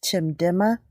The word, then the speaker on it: Chimdimma: my name is chip my full name is chim dimmer Oh here II but my short easy name to pronounce okay can you tell us I'm